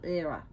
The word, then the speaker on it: Hera: for many goddesses like the goddess era which we call hera here but means like it